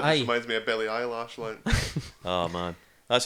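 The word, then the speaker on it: Billie Eilish: just reminds me of Billie Eyelash line.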